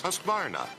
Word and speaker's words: Husqvarna: know you can't pronounce Husqvarna, the name that means craftsmanship all over the world. So I teach you now how to say Husqvarna. You say husk like corn and varn like varnish without the ish, and nah,